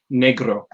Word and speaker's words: negro: If we're doing it with the proper pronunciation, it would be negro. You'd have a little bit of a roll, a little bit of a click with that R. Awesome.